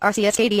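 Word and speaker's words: Arceus: you serious right now how dare you say arus it is not pronounced arus I am so offended right now it is pronounced rcsd I am literally crying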